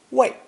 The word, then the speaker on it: 为: So, this forward-moving elephant, when pronounced fourth tone, wei, is often rendered as the preposition for in English.